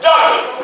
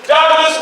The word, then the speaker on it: Douglass: the name of Douglas but this time Douglas with two s so that way when you pronounce my name you pronounce my name as dougas somebody say that you got two s you make sure you say the S so when they call